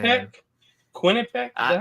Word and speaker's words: Quinnipiac: Dang, Quinnipiac? man. Quinnipiac? Is that how you say it? Yeah, Quinnipiac.